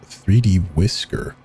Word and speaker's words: 3DWiscr: us prefer to use its file name and state pronounced 3D whisker in 3D workers Island